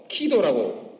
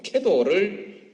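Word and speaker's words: KEDO: 키도라고 발음합니다만 키도 또는 캐도를 받아들일 때 한국형 원자로를 한국 기술진에 의해서 건설하도록 용납했을 때 이미 북한은 한국의 기술에 에너지를 의존한다는 결정을 한 것입니다.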